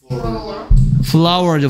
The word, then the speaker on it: flour: 그 다음에 A의 2번의 끝에 FLOUR 이거 발음 뭐예요? Flower죠. Flower. 꽃. 오케이. 그래서 이게 무슨 뜻인지. 꽃. 꽃 옜다. 여기 있다. 꽃. Flower. 어, Flower. 이게 꽃이죠? 이것도 발음은 똑같은 Flower입니다.